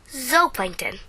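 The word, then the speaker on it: zooplankton: had very little food Zoo that's right Zoo like an animal because they are super duper tiny animals but you say it like this Z Plankton so why does it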